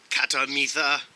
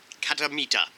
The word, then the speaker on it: Khatta Meetha: missed you um delicious katamita katamita sorry they don't pronounce the h i looked it up catamita snack mix mostly sweet